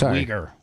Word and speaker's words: Uyghur: It's Uyghur.